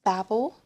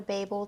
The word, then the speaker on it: Babel: And then I got Babel or Babel, just depending on how you say it, by RF Kuang.